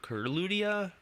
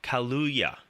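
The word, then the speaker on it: Kaluuya: her husband I forget his name Daniel Kurt curludia I can't I can't pronounce his last name I'm really sorry he was a film he was filming nope at the time so he couldn't Daniel kaluya yes he was supposed to come back as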